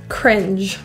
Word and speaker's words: cringe: very embarrassing to watch the final sound is voiced think of it like a d d sound of that